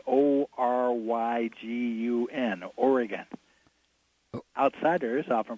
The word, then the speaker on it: Oregon: sticker stickers to put on cars that say o ry g un oregon outsiders are from pronounce it Oregon or Oregon oh my god